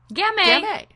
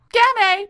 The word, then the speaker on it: Gamay: Gamay. Gamay. Beaujolais. It rhymes. That's an easy way to remember it.